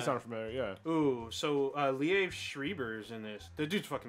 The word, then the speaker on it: Liev Schreiber: Ooh, so Liev Schreiber's in this. The dude's fucking amazing. Leaf Shriver?